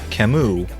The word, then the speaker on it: Camus: Many players were surprised to hear that the name of the character is pronounced officially as Camus, when Faye the Owl said it during a Faye channel video.